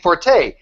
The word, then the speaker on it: forte: Yeah, they're going to say, "You mean forte?" And technically, structures around. Yeah, technically you may be right, that the word is pronounced fort, but in common parlance, right?